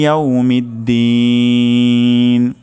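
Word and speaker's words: يَوْمِ الدِّينِ: দিন এখানে আমরা ৩ আলিফ পরিমাণ টান দিব। তাহলে মালিকি ইয়াউমিদ্দিন, মালিকি ইয়াউমিদ্দিন, মালিকি ইয়াউমিদ্দিন।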